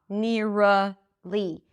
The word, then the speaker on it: nearly: Nearly. Keep the back of the tongue connected to the teeth. Near, and as you pronounce the R, push the tongue forward until you hear it change to an L.